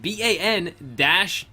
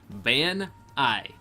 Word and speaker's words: Banai: When Banai first came into my chat back in, I think, January of this year, I asked him how to pronounce his name, and he said Ban-Eye. Ban-I.